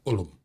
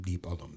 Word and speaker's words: Deep Ellum: ethnically generated word because it was Deep Elm, ELM. But the way the people that lived there pronounced it, it was Ullum. So that's how it got its name, Deep Ellum.